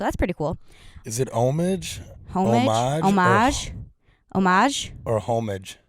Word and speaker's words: homage: about this French man homage while the American pronunciation does not deliver the H sound quite as much homage homage so American is homage and the British is homage okay but I think